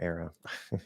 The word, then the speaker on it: era: Are you more likely to pronounce era as era or era? Yeah. Well, clearly the second one. Yeah, no, there's two pronunciations. You can say era, especially when we say like the end of an era.